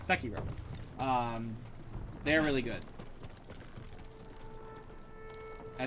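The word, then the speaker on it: Sekiro: and sakiro those are sorry sakiro that's way you're supposed to pronounce it sakiro um they're really good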